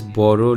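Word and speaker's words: বড়: Notice how the lyrics read Bodo Loker Beti, but it is pronounced as Boro Loker Beti.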